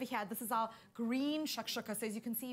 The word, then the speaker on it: shakshuka: You know, it's early in the year and you're throwing us big words like shakshuka.